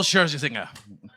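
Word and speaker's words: Scherzinger: Nicole Sherzy singer.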